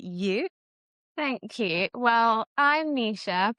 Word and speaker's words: Nesha: Well, I'm Nisha, pronounced Nisha, but spelled slightly different.